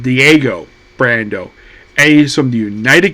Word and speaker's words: Diego Brando: And then we introduced to it says on his hat, Dio, but his name is pronounced Diego Brando.